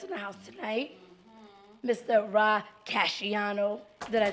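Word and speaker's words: Rah Cashiano: Ra Casciano.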